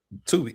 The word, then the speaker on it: Tubi: Well, no, you don't have to be specific because it's not spelled the same way, but you can pronounce it the way Tubi.